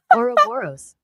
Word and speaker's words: Ouroboros: If you share this is how to pronounce it. Ouroboros.